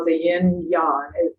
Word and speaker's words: yang: call it the yin yang. It's actually pronounced yan. Most people think it's yang. It's yan.